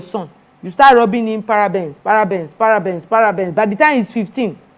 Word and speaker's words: parabens: That's why it is a video, so you can slow down, listen to the pronunciation. They are called parabens.